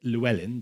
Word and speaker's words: Llewellyn: Last name is pronounced Llewellyn, but we needn't worry about that.